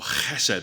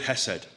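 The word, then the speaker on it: חסד: It's the word hesed, or chesed, but I'm not going to say it like that because I'll get a sore throat. It's the word hesed.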